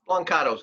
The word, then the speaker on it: Blancato: Did I pronounce it correctly? Blancato's good.